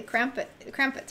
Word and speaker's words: Krampus: in the East or in Europe area, the Krampus, right?